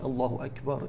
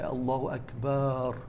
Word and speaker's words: allahu akbar: how do you say you say allahu akbar with the kaff you don't say allah which then makes it into a question is allah the greatest which is something which is of course wrong and we cannot say that some people they say allah akbar they prolonged the long elephant this is also incorrect as it has a negative meaning so the correct way to say it is allahu akbar so what does it